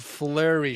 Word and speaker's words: Fluri: I'm a co-host of a podcast called The Chance of Flurry Show. Flurry is spelled Fluri, right?